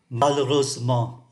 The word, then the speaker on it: Malheureusement: Malheureusement, chúng ta không phát âm cái từ ơ này.